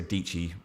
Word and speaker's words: Dietschy: like um i like sarah dietschy rhymes with peachy um i just i